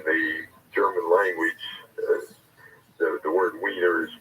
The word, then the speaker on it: Wiener: there and in the German language the word weiner is pronounced as if it started with a B